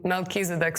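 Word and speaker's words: Melchizedek: That's very interesting fact because in English we pronounce it like Melkisedc.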